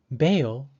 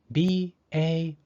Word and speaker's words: bail: Bail is spelled B-A-I-L. Because the A and I are both vowels, the second vowel, I, is silent, and the first vowel, A, takes the long A sound.